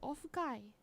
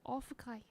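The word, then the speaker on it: オフ会: Ofukai. That's how they say it. Ofukai.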